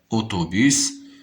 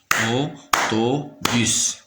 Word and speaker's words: autobus: Autobus, autobus, autobus, autobus. Le mot autobus se compose de 3 syllabes. Autobus. 1, 2, 3. Toujours AU me donne le son O. Autobus.